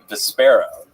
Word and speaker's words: Vespera: Vespera. Vesper with an A at the end.